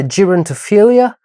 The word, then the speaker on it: Gerontophilia: est question aujourd'hui de gérontophilia prononcé du coup à l'américaine gontophilia réalisé par Bruce labrousce